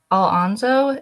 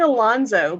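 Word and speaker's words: Alonso: Alonszo is how you say it. I've been saying Alonzo, but Alonzo. Okay.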